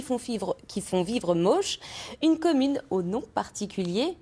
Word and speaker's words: Moosch: en vieil allemand et ça se prononce avec 4 ou moche hein non pas facile à